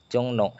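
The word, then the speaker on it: 종로: Dibacanya n. Jongno.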